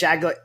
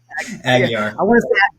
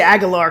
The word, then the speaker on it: Aguiar: guest on today, Mitch Aguiar. Did I say it right? Aguiar. I want to say Aguilar because I'm from Louisiana, but Mitch was a 10-year